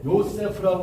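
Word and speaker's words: Yosef: 그러니까 이게 요세프라고 하는 그 이름이 이게 원래 발음대로 하려면 우리말로 하면은 이게 어떻게 되냐면 요세프 이렇게 되는 거예요. 요세프. 이게 세가 아니고 요셉이 아니고 요세프가 돼요.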